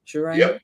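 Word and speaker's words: Girona: nil win and then Jirona Jirona have I have I pronounced that right? Jirona correct who I think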